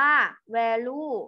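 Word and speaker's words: value: เจอ กับ คำ ว่า แวลู นะ คะ อัน นี้ นาย ภาษา คอมพิวเตอร์ อ่าน ว่า แวลู นะ คะ ตอน นี้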